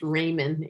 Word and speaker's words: Ramin: let you know that my last name is pronounced Raymond Raymond oh thank you